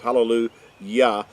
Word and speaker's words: hallelujah: English translations, halal, and it's got a J instead of a Y, but it's always still pronounced as hallelu Yah because Yah or Yahwh is his name.